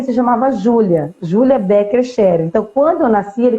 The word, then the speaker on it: Scherer: Eu fiquei até com medo de falar e errar a pronunciação. Não, Scherer.